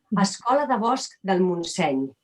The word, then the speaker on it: Escola de Bosc del Montseny: The Forest School business itself is called, I'm going to say it in Catalan, Escola de Bosc del Montseny.